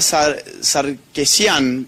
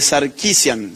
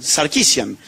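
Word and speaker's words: Sarkeesian: Y en Canadá tenemos un caso que es fabuloso, que es el de Anita Saresian, que siempre me lo corrigen. ¿Alguien alguien sabe cómo cómo se cómo se pronuncia bien? Eh, Sarquisian. Sarquisian.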